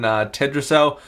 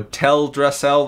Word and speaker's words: Teldrassil: the Horde burned down tetra-cell or teldrassil that's how you say it and we attack Lord